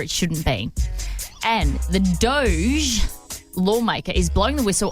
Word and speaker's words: DOGE: Elon Musk has a doge you know what I mean a doge that's his government Department it is the Department of government efficiency and it's pronounced Doge like Doge cat okay cool I said